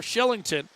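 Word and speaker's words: Kylington: Again, that K in Sweden, just like Oliver Shillington.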